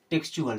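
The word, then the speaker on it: textual: हम पढ़ते थे टेक्स्ट लेकिन जैसे ही यूए एल लगा तो हम इसे पढ़ते हैं टेक्चुअल क्योंकि अब टी के बाद में अगर यू ए एल आता है तो टी का उच्चारण करते हैं चार चम्मच की तरह और साथ में यू ए एल होता है तो टी यू ए ए मिलाकर के बन जाता है चुअल एक और वर्ड आपको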